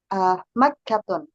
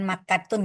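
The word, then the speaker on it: مكة: Makkatun. Makkatun itu Mekah. Nah, taknya Bacanya dihilang. bukan makatun ya.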